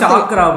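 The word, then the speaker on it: チャクラ: ஆமா எனக்கு சக்ரா ப்ரோ இஸ் சக்ரா ப்ரோன்றது ஆமா தப்பா சொல்றேன். அதாவது கான்ஃபிடென்ட்டா வந்து தப்பா ப்ரொனவுன்ஸ் பண்றது ஓகேங்களா. ஜப்பான்காரனே அதை சாக்ரான்னு தான் சொல்றான், மீனட்டோ தான் கூப்பிடுறான்.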